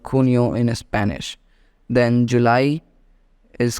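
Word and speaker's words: junio: month or a year in Spanish J is always pronounced as k h therefore June in English called kunio in Spanish then July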